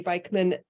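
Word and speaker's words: Beikman: Beekman hi there my name is bikeman um it's spelled last name is b-e-i-k-m-a-n I'm with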